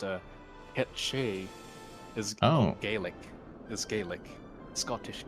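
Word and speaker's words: Cait Sith: Uh, gate Sith, which is pronounced uh Ketche is Gaelic. Is Gaelic. Scottish Gaelic. So, yeah, it could be Yeah. Yeah. Ketch instead of Kate Sith, but then everyone pronounces it Kate Sith because uh that's what it sounds like and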